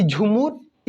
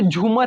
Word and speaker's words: झूमुर: अब हमारा next question है कि झूमर इज a folk dance of which state.